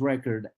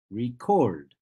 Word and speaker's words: record: that I'm talking about a noun which is record and not about the verb which is record the second syllable is stressed yes so record for